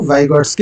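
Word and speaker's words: Vygotsky: तो आपको इतना ज़्यादा ध्यान नहीं देना है, आपको इसको वाइगॉट्स्की ही कहना, इसको पियाजे कहना, ठीक है ना। लास्ट का जो टी है वो साइलेंट हो जाता है।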